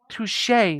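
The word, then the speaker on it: touché: Oh, touche. I think that's pronounced touche. Not touch.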